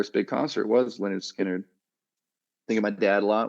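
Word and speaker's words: Lynyrd Skynyrd: First album coming out, pronounced Leonard Skinner was 1973.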